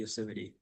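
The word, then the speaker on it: Yosemite: It's actually Yuseite. Yeah. California. It is is pronounced yuseite by the way.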